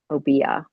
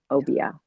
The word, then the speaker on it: Obeah: remarkable letter that mentions Obeah. Obeah. I was like, I'm always giving it a short A there.